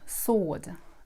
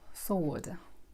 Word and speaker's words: sword: It's sword, "w" is not pronounced. It's silent. So it goes like "sword".